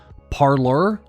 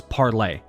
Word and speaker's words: Parler: be all calling this parlor or parlor the correct and initial pronunciation how the app developers intended for it to be was parlay uh very much like the the french term so i just wanted